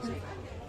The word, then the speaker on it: souvlaki: Like you, chicken souvlaki. Chicken. How'd you say it? Souvlaki. Chicken. Souvlaki, well done. Souvlaki. The pronunciation is absolutely perfect.